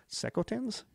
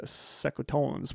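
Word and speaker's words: Secotan: The hostility began soon after their arrival when the English accused the Sekotans, I don't know how to pronounce it, S-E-C-O-T-A-N, Sekotans?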